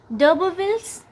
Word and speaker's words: d'Urberville: डबरविल्स और डबरफील्ड, इसको डबरविल बोलते हैं।